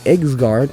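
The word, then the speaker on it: Yggsgard: well-designed impacted with personality the egard which is actually how you pronounce it are all absolutely beautiful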